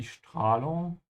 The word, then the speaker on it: Strahlung: Also die Strahlung is radiation and make sure you start with a sch sound because the s comes before a d.